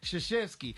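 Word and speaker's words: Krzyzewski: Games first off his his last name is not spelled how it's pronounced his name is Mike shashesky AKA Coach K yeah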